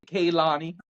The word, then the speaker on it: Kehlani: you say it um I think it's Kanani but I've also heard people say Kalani I don't know why